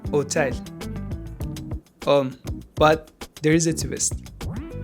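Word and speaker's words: hôtel: In French, H typically does nothing. No sound ever. You don't pronounce it. Hotel.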